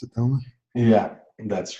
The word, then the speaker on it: Domen: Is that the way that we pronounce it, Domen?